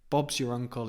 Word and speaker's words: Bob's your uncle: Bob's y Bob's y we don't really pronounce the r of your Bob's your uncle Bobs